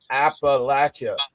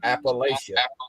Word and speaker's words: Appalachia: It's my campaign to make sure everybody pronounces that word right. Appalachia. It's not Appalachia.